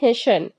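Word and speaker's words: hasten: टी ई एन हेशन इसे हम क्या पढ़ेंगे हेशन हेशन इसमें टी वर्ड साइलेंट हो जाएगा हे हेसन का मतलब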